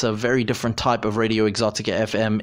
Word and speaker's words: Radio Exotica FM: I know that it sounds like I say Radio Exotic FM. It is Radio Exotica FM.